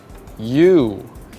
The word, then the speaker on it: you: Remember, O and U make the sound ow, but for these tricky words, they make the sound oo, you, and should.